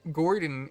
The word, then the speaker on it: Gourdon: And Gordon is spelled Gourdon. It's a pun because it's spelled like gourd, and he has a pumpkin on his head.